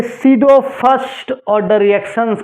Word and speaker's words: pseudo: गलती हो गया सीरो प एसई यू डीओ होता है सी इसमें प होता है साइलेंट ठीक है सीडो फर्स्ट